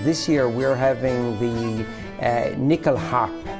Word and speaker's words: nyckelharpa: And this year we're having the Nyckelharp. In Sweden it's pronounced as the Nyckelharpa, and it is a